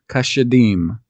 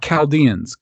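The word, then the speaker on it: כשדים: they're the they're the cash Adam Kesha deem not Chaldeans kasha Dean were these people to note the pronunciation of the words now here's the thing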